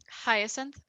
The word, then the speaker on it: Hyacinth: Hyacinth, Hyacinth. like the flower. Unless like I totally like just botched how to pronounce that flower, which is possible.